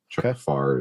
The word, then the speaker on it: Pfarrer: Chuck Farr is spelled Pfarrer, something like that.